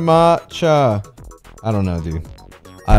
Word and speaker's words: matcha: Ma It's pronounced matcha.